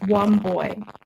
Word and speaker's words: Wambui: It's pronounced Womboy.